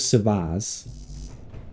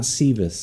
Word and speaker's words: Savaz: Last week it was Savaz. Not Sivas, it's Savaz.